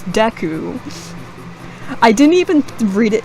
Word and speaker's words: Deku: you and the and I would pronounce it as Dookie for the longest time not even DQ because it's deku I didn't even read